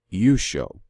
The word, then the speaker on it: Yeshua: case of Israel's Redeemer my Redeemer I pronounce it you show so that is a